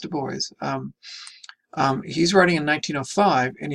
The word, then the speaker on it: Du Bois: Now, this is Du Bois, and again, it is pronounced Du Bois.